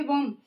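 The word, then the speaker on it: bomb: अब यहाँ पे आप देख रहे हैं बी ओ एम बी बॉम्ब, बी के पहले एम आया हुआ है, ठीक, तो इसलिए हमारा वहां पे एम क्या है?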